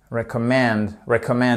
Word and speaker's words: recommend: Vous voyez le pauvre E là au milieu, il est un peu compressé entre ces deux syllabes très fortes, et on entend à peine, mais on entend tout de même.